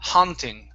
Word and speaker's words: haunting: The vowel is an ah sound, so it's ha, haunting. Haunting.